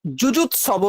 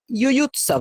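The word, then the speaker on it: युयुत्सवः: পরেরটা যুজুৎসব নয়, ইউয়ুৎসব, ব্যাস এখানে টাং টুইস্টার হয়ে যায়।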